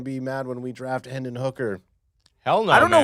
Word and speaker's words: Hendon Hooker: It's Hendon Hooker. Oh my God, AJ, that's like one of the easiest names to pronounce.